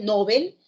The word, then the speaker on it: Nobel: seguir la recomendación desde la raíz nobel aguda como su pronunciación en el sueco después de eso no